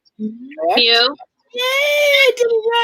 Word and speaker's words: Mew: Brendan's favorite Pokemon is Muse. Mew.